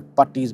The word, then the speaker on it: Bhatti's: So the new channel is gonna be called Bhatti's Garage, or Bhatti's Garage if you're Punjabi and you could, pronounce the name, I guess.